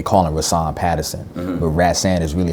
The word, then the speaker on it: Rahsaan: like growing up you know my name is pronounced Raths and my father named me after a musician ran-san Roland Kirk and there's another artist named today calling us on Patterson but rats and is really how you say it but people